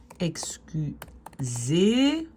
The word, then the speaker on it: excuseert: Hij excuseert zich. Attention, donc le E ici, c'est le long E. Hein? Regardez dans syllabe ouverte, syllabe fermée.